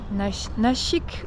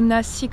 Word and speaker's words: Nashik: suis à Nashik ou Nasik, ça se prononce de deux façons différentes.